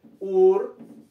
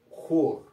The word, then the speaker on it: Hur: de yuda la palabra la palabra hur es con het y no con h como aparece en su Biblia ya el nombre se escribe con j al español es como una jota española entonces en su Biblia aparece Ur en hebreo es jur que significa Lino blanco